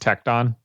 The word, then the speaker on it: Tecton: tecton tecton before Nick it's pronounced tecton like tectonic plates I'm sorry I believe